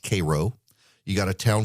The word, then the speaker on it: Cairo: It's pronounced Cairo.